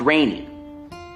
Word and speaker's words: Gagnon: bond tour yes uh g-a-g-n-o-n right pronounced rainy rainy yes okay i i